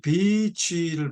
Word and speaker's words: beach: 여기서 이 beach를 발음할 때 조심하셔야 합니다. beach, 긴 발음으로 하셔야 돼요. beach, 그러면 나쁜 말입니다. 아시겠죠? beach, 무슨 말인지 아시죠? 그건 나쁜 말이에요. 개, 녀, 니은입니다. 그러니까 절대로 짧게 발음하면 안 돼요.